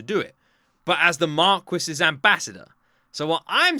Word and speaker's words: Marquis: Um, is is Marky? That's Marquis. That's Marquis. Marquis. That's how it's pronounced in England.